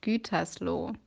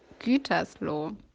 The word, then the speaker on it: Gütersloh: Hi, your pronunciation is really shitty. So it's called Gütersloh. Okay? Again? Gütersloh.